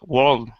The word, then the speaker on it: world: World is a little bit different because we have that, it's kind of like a vowel sound attached to an R, and we see that in other, like the word word or work or even maybe weird. When we have a vowel sound attached to the R, it changes a little bit. So that one is a little unique, yeah.